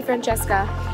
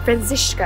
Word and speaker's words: Franziska: I'm gonna see Francesca, and Franziska actually is how you say her name.